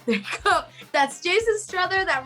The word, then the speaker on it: Strother: we have jason jason strada did i say your last name right jason strother rhymes with brother okay there you go that's jason strother that rhymes with brother